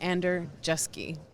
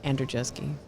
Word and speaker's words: Andrzejewski: Vivid's Chief Safety Officer, and today I'm joined by Tom Andrzejewski, who is the Safety Director with Hunt Electric Corporation.